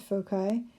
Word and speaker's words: foci: pronounces at foci and I took a Latin class a few years ago and they don't even have a soft C sound so in Latin you